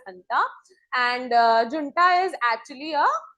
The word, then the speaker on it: junta: It is written as Janta, but it's pronounced as Hanta.